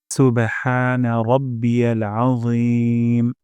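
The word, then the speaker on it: سبحان ربي العظيم: red mark দেখা যাচ্ছে র মোটা করে উচ্চারণ করব আজিম আ গলার মাঝখান থেকে এবং মোটা করে যেন না হয় সুবহানা রাব্বিয়াল আজিম সুবহানা রাব্বিয়াল আজিম অর্থ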